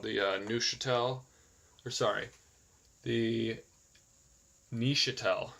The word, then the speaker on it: Neuchâtel: specific unit called the Neuchâtel, or sorry, the Neuchâtel. I went on Google Translate, and I guess that's the correct pronunciation. It's actually pronounced Neuchâtel, and I guess that's